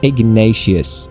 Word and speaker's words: Ignatius: Ignatius, pronounced Ignatius in English.